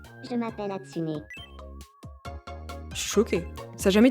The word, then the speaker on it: Hatsune: C'est Atsune ou Atsuna ? Qu la différence ? La prononciation c'est Atsuné.